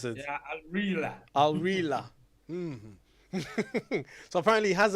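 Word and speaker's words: Al Rihla: How do you pronounce it? Yeah, Al-Rila.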